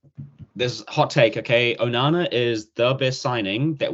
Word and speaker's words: Onana: Onana, am I saying it right? Onana, yeah.